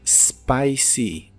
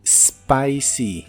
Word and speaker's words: spicy: de la palabra spicy no lleva e al principio se empieza a pronunciar desde la s spicy spicy y la doble o